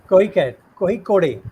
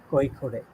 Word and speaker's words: Kozhikode: Kohikode, right? If I'm pronouncing it right? Kozhikode.